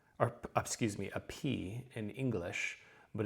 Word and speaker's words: pi: Now, you've always heard it as pi, so you might as well stick with it now. This is, of course, the 3.14 constant that the ratio that we use in math. But it is going to have that P sound exactly as you would expect.